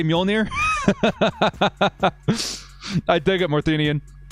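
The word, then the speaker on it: Mjölnir: how to say it i'm a thor fan mjolnir the bridger of lightning we're going to call him mjolnir we're going to teach the entire uh uh l.a fan base how to say mjolnir i dig it more thenian it was cam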